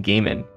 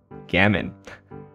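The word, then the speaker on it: gamine: also an adjective am I pronouncing this wrong I've been saying gaming but now I'm concerned let me click this Gammon I was pronouncing it wrong also gaming a small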